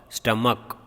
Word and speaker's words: stomach: Then last one over here, STOMACH, it is stomach. Last CH is K, stomach.